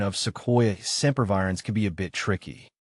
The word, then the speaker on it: Sequoia sempervirens: Breaking it down, Sequoia starts with a soft sound, followed by KWY, and sempervirens is pronounced with emphasis on the VY.